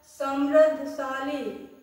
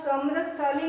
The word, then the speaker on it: समृद्धिशाली: Number 2 है भारत समृद्धशाली। तो यहाँ समृद्धशाली नहीं होता है, समृद्धिशाली होता है।